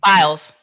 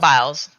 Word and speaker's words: Biles: How do you say? Biles. Just Biles.